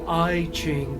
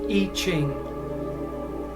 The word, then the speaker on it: I Ching: I highly recommend something called the I Ching, or you might pronounce it the I Ching, because that's how it's written, the letter I and then Ching, but it's pronounced I Ching.